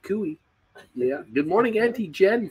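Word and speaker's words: Koe: And Cooey, that apparently is spelled K-O-E. K-O-E, Cooey.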